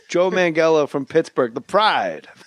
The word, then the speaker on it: Manganiello: what about according to joe mangello hard g joe mangello from pittsburgh the pride